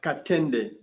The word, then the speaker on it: Katenda: have Elliot, Neff, and, how do you pronounce your last name? Katenda. Katenda. How do you say that again? Katenda.